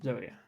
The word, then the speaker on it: zoea: Zoea.